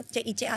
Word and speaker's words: Cica: ee kalau di Korea namanya c i ca Cica atau Kika bacanya Man C i c